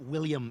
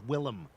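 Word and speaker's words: Willem: It's not William, it's William.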